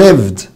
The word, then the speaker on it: lived: طب lived هتقول له يا مستر نطق ده برضو lived والايه ما نطقتش.